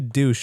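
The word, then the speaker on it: Deutch: How is that her last name? I actually think, to be fair, is it wrong? I think it's pronounced Deutsch.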